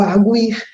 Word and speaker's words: arguir: formas aqui do verbo arguir, né? Eu tenho tu arguis, ele argui, eles arguem, né? Então, essas palavras não têm mais acento, mesmo que o U seja pronunciado, mesmo ele sendo tônico.